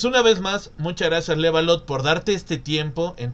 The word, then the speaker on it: Levalotte: Como había dicho en el inicio, es Levalot. Lo vuelvo a pronunciar por si acaso. Claro, claro. L, V, no, no, Levalot. Levalot.